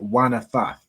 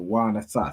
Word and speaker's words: wanathath: This would be wanathath. So wanathath. So you have really the preposition and. So wa and And then this Nathath, it comes from the word Nathan.